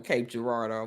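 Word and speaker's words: Cape Girardeau: uhhuh yep wor I worked with someone from Cape Gerardo for years oh thank you for pronouncing that because I I was lowkey struggling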